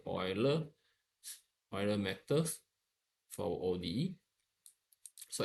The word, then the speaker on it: Euler: this uh this uh the uler or the oiler okay pronunciation the right ones be the oiler Oiler meod for OD